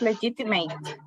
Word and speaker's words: legitimate: Yes, legitimate. Legitimate. Legitimate. Yeah, the end is legitimate, right? Not mate. It is legitimate.